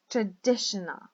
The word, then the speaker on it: traditional: Traditional. We have 4 syllables.